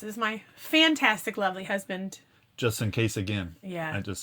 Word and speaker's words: Justin: Justin. You got to say it like that.